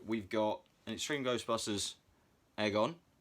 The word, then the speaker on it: Egon: So we've got an Extreme Ghostbusters Egon. Yes, I know it's Egon. I'm going to keep saying it wrong because I find it funny. Egon, like egg on toast.